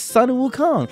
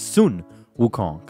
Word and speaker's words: Sun Wukong: this is Sun Wukong this is Sun Wukong no it's Sun Wukong that's the main reason behind this it's Chinese phonetics learn different languages learn at least to pronounce things correctly roll your RS When You Say My